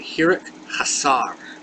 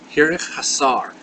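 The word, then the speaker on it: חיריק חסר: Our next letter is a long I, and this is called the hirik hasar. Hirik hasar. And this is just the dot underneath the vowel. It is pronounced E.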